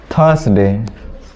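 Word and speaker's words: Thursday: हैं थर्सडे थस गया थर्सडे तू लोग बोलता है थर्सडे इसमें आर को साइलेंट कर देना है सस टी एच यू आर एस डी ए वाई इसमें आर को साइलेंट कर देना है बोलना है थर्सडे अब पूरा थर्सडे मत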